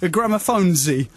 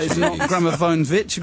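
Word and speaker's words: Gramophonedzie: Gramophonesy is not Gramophonevic. Gramophonesy is what you want.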